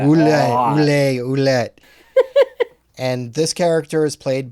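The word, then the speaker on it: Ouelet: I can never pronounce this name. It's a really hard to pronounce. I think you say it like that. Ouellette.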